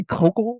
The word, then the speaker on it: Koukl: Did I say Kokal or Kougal during the in the intro?